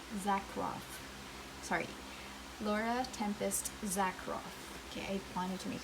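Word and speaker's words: Zakroff: laura tempest tsar zack roth sorry laura tempest zack roth okay i wanted to make sure that i you know pronounced her name correctly this is a deck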